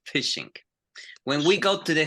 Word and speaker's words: phishing: When we have a PH sound, it sounds different, okay? For example, listen to this. Phishing, which is a cybersecurity, we say phishing, phishing. So we explode, we say phishing.